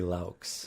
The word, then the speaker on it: Laux: You can call me Laux, Lau, whichever. But what is it? It is going to be Laux. Laux. Yes, sir. So the X is part of the pronunciation.